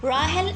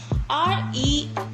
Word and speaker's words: Rahel: To pronounce Rahel and Astha, and for spellings is R-A-H-E-L, and Rahel and Astha, E-S-T-H-A.